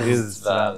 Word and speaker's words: Riztival: Tu dois prononcer le Z. là. Ristival.